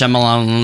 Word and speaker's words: Shyamalan: Night Is it- Shyamalan.